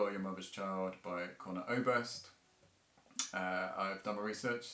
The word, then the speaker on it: Conor Oberst: song called you are your mother's child by conor oberst uh i've done my research and that is definitely how you pronounce it um so come here for a